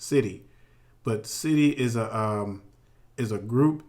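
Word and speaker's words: Siddi: Now, there's a group of people that are known as, and it's pronounced Sidi. I had to research it and get the right pronunciation of it, or it's pronounced Sidi.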